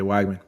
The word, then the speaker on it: Weigman: Yeah, Weigman.